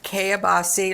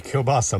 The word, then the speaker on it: kielbasa: to be baking a kebasi linguine casserole I'm sure I pronounced that wrong Greg will tell me about it I'm sure that would be kielbasa mom anyway um it's